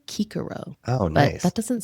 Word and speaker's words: Cicero: My favorite Latin tidbit is that they didn't have a soft C. So we've been calling him Cicero all this time, and it's actually Cicero.